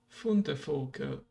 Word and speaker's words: Fundevogel: Fundevogel. I forgot, like there's F, but there was also V that is pronounced as F, right?